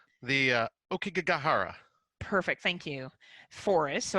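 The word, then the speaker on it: Aokigahara: this right I feel like you're better at pronouncing this the uh ok gahara perfect thank you Forest so I'm just going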